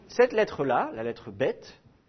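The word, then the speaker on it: בית: lettre là la lettre bête vous allez tantôt la prononcer comme un B et tantôt la prononcer comme un V d'accord alors vous allez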